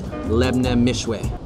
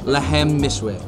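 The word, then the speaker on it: Lahm Mishwi: The name of this dish is Lebne Mishwe. Are you saying it right? Lebne. Lahemne. Lahem Mishwe. All right, the name of the dish, Lahem Mishwe.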